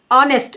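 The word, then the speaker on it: honest: कर रहे तो लेजरली ऑनेस्ट इसमें एच साइलेंट रता ऑनेस्ट ईमानदार डिस ऑनेस्ट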